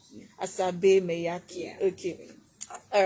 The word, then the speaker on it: Asabe Maiyaki: Oh, yeah, pronounce your name it's now. Asabe Maiyaki. Asabe Maiyaki.